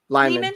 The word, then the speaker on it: Lehman: I never know how to pronounce his last name. Lyman? Lyman.